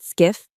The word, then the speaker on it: SCIF: SCIF, pronounced skiff, stands for Sensitive Compartmented Information Facility.